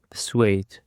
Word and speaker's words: persuade: Now for the second thread we have persuade. Persuade. The stress is on the second syllable.